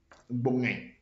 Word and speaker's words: gbogne: I will spell it in the French word so that you can easily get it. GBOGNE. Bonge.